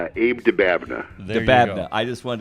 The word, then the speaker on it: Dababneh: all right hey Abe say your name Abe dababneh the bad I just want to say we